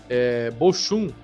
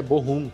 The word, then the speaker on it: Bochum: trouxe uma novidade que eu chamava bochum o time da Bundesliga né E aí eu descobri que é bom rumo que se pronuncia então bem diferente E